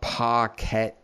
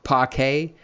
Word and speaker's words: parquet: is a sort of a parkette how do you pronounce it parquet i'll just pronounce it